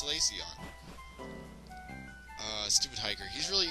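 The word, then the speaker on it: Solaceon: salaon ruins yeah caon for those of you think it's celon or Sal I don't know how else would you pronounce this it's caon uh Stupid hiker he's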